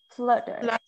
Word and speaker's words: flutter: is a flutter okay it's not float but flood okay flutter okay um so do